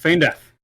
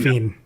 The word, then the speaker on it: Feign Death: what it is okay yes you're correct Fain death I sometimes say fiend fiend uh I was